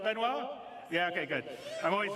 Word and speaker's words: Benoit: Did I say it right, Benoit?